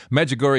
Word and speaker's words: Medjugorje: magic gory is spelled just like it sounds Smiles there Med like